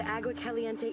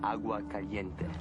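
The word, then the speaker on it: Agua Caliente: were sacred to the AUA calente Indians it's pronounced AUA Cente and I've got to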